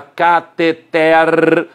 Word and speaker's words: cateter: Relembrando, Prêmio Nobel, sílaba tônica é a última, ele está ruim, sílaba tônica é a última, a tubulação se chama cateter, sílaba tônica é a última.